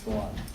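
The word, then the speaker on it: Suan: My first name is Swan, S-U-A-N. Probably you can't remember that, but it's pronounced like a swan.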